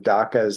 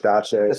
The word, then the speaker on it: dacha: She was calling them dakas instead of dachas and stuff like that.